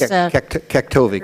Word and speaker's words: Kaktovik: Yes, Katovik is Kaktovik, right at the border of Tianutu.